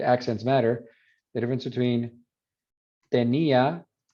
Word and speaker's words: tenía: matter, the difference between tenía where there's no diphthong, because that's accented, so it's a full vowel, so it's te, ni, a, 3 syllables.